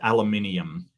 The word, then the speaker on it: aluminium: left-handed J for $2 it's pronounced aluminium yep I agree and